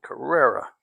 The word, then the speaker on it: Carrera: 96 Porsche Carrera that's how you say it Carrera it's weird looking color it's pretty though also